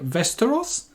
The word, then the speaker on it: Västerås: this this is the westeros i think the a with a little circle on top is more of an o sound so but yeah this